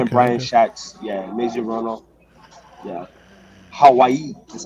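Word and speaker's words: Mazie Hirono: Yeah, Maisie Hirono.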